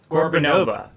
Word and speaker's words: Gorbunova: How do you guys pronounce her last name? Gorbunova.